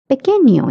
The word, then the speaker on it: pequeño: And notice that N with the curly line, it is pronounced as nia.